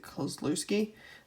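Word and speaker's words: Kluszewski: fifty-five tops Ted Coe is it closed loose key I believe is how it's pronounced um I was pretty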